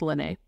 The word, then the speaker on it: Lene: for a second because it's kind of spelled like Leanne, but I think it's Lene.